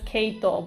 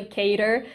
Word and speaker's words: Cater: mean you're not wrong i say his name is keito but his name is technically cater but i can't say cater because it reminds me of mater from cars okay that's cute oh my